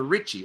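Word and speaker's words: Ricci: ugly comments sis uh roxanne says pronounce it like richie so christina ritchie okay got it uh she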